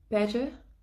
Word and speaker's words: better: Ce qu'il faut savoir, c'est qu'en fait, le T, lorsqu'il est entre deux voyelles, O, A, I, O, U, Y, il devient un D. On le prononce D. C'est plus fluide en fait. C'est comme better, better.